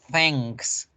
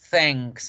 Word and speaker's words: thanks: Y miren en la palabra gracias, la N con la K, en este caso la K no se borra. La pronunciación se debe hacer, pero como me obligan a hacer una K, que se acuerdan que las K se producen en el velo del paladar, se pronuncian acá, aquí en el velo, por eso es fácil hacer la palabra gracias. Thanks, thanks, thanks. No suena thanks, no.